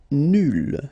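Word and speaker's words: nulle: Nul will become nul. So phonetically it's the same, but then you double the L and you put at the end. Okay, so nul and then nul. Phonetically it is the same thing.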